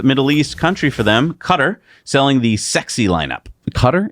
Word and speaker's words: Qatar: East Country for them cutter selling the sexy lineup cutter isn't is a guitar uh I've heard it pronounced quatar sorry Qatar no cybertruck yet Tesla